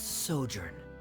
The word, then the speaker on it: sojourn: everything clear uh director zosimos how do you pronounce this word let me let me see Ah that's sojourn it means to stay for a while this